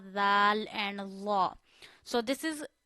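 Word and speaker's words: ذ: Zal, very softly. Zal, two zabar zan. Zal, two zir zin. Drop your voice, zin. Zal, two pesh zun. Zan, zin, zun. Very easy. Read sa and zal very soft tone without hard tone.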